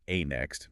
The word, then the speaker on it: ANEXT: And our mission today is to figure out how NXT, which is pronounced A Next, by the way, how they're actually managing to